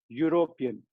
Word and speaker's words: European: But words like uniform, European, utensil, unique, university, all of them are pronounced as U. U is year. Year is a consonant sound.